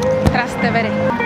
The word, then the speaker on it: Trastevere: We've got 7 stops on this trip and we're gonna be going through an area that I cannot pronounce. Trastevere. Trastevere? Trastevere.